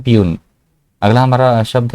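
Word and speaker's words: puisne: Pronunciation ध्यान से सुनिएगा, प्यून।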